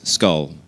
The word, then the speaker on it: SKLL: laboratory or skll um typically we just pronounce it as skull for short um because it's just